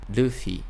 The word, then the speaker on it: Luffy: No caso do Luffy, no Nihongo, a gente vai ter um som que é com a língua mais próxima do L, mas ele também tem uma tremidinha, uma batida do lado. Luffy.